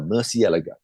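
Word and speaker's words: Murciélago: Asked the PR lady, how do you pronounce it in Italy? She said it's a Murcielago.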